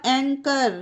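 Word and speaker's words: anchor: double O L school यहां पर भी एच साइलेंट है ओके फ्रेंड्स ये है ए एन सी एच ओ आर एंकर ये ए ए एन से अंग की मात्रा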